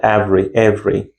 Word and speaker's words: every: Not every. Every every you see here the letter B which I've written the title which I've written the underline is generally not pronounced it means we do not pronounce them.